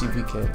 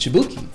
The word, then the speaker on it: Chibuike: You know, my real name is Chibuike, pronounced Chibuike, but growing up, it was pronounced Chibuki.